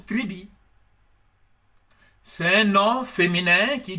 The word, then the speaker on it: tribus: En latin, tribus, qu'on prononce tribi.